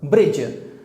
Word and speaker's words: bridge: Bridge. You know bridge में जो D है ये साइलेंट लेटर है, इसको हम नहीं पढ़ते, इसको हम नहीं प्रोनाउंस करते।